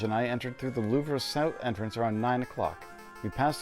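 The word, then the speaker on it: Louvre: that word Lou Museum Lou really it's just Lou okay okay I had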